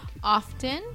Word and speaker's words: often: It's got to be off. Like, this is English as it is spoken, not as it's spelled.